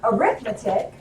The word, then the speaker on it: arithmetic: their arithmetic the accent on the different syllable it's automatic arithmetic at x we're liking